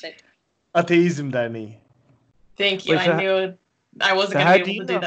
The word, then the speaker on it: Ateizm Derneği: Wait, Onur is a native Turkish speaker, so he should pronounce it. Ateizm Derneği.